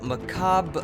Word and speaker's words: macabre: you say that word so the word is basically pronounced macabre upside down uppercase r in french where upside down uppercase r is a voiceduvular fricative the closest sound in english is of course upside down lowercase backwards r and note that there